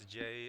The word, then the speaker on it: Jay: Oh, and it appears I've been mispronouncing some of the players' names, so it's Jay and Yami.